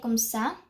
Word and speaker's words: comme ça: So I hope that you also see this, and just remember that when you say comme ça, there's an accent mark, so, which will allow you to pronounce it, to say it as sa and not ka.